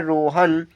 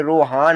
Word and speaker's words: रोहन: की मात्रा होती है, तो मान लीजिएगा आपने हा पर बड़े आ की मात्रा लगा दी, तो आप इसे क्या पढ़ेंगे, इसे पढ़ेंगे रोहान। रोहान उच्चारण सही है, गलत है, सही उच्चारण रोहन है।